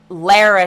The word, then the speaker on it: Lara: good lord lara l-a-r-a i'm saying lara trump only is pronounced lara right can we call